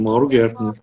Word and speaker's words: Gertner: Pronunciei certo, Mauro? E aí Perfeito, Mauro Gertner.